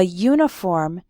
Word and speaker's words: uniform: example we say a uniform because uniform starts with a y sound but an umbrella because